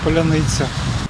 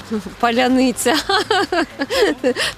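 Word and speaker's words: паляниця: цих слів мир спокій Поляниця тому що росіяни їх не можуть вимовляти через то воно наши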